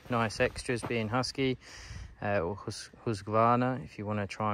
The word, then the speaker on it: Husqvarna: quite a few nice extras being husky uh Husqvarna if you want to try and pronounce it properly and out absolutely destroy it